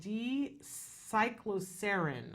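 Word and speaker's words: D-cycloserine: there is something called D cyclosarin I believe is how you pronounce it uh that in recent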